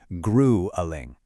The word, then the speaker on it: grueling: Listen closely to the first syllable, grueling.